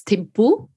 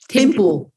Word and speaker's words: Thimphu: Is it Thimphu? What's the capital of Bhutan? Yes, it's Thimphu. Thimphu.